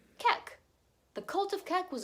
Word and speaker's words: Kek: Not only that, but the user ID ends with QEK, which could be pronounced as Kek.